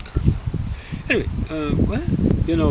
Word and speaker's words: Carmel: Spelled like caramel, but I think he said like the Spanish word Carmel.